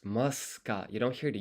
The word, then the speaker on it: ますか: listen to the pronunciation, I don't think you hear the u. いくつありますかいくつありますいくつありますか Yeah, it's muska.